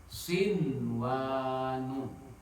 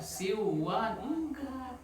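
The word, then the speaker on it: صنوان: Contoh yang satu kata nih sin wa nun mana contoh nun mati menghadapi wau dalam satu kata Pak Ketua enggak bisa dibaca siwak dibacanya tetap sinwan. Nun matinya harus dibaca jelas ya.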